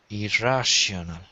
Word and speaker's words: irrational: one more time but be careful of the r irrational irrational that's it so you got to put the r on this kind of more on the second syllable rash IR rash rash so if you can say rash you got it irrational rather than IR be careful not to roll your eyes irrational one more time